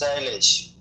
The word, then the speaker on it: Shailesh: It's a 2 syllables, Shailesh.